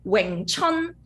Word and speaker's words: Wing Chun: Yeah, just pronounce like Wing Chun. Wing Chun. Chun is like the spring. Chun Tin is spring. Yeah, Chun, Wing Chun. Right. So the wing is what, 6? It's also 6 tone, right?